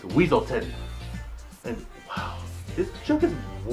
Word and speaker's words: Weaselton: And while they pronounce it like Weaselton in the movie, he corrects them by saying it's Weaselton.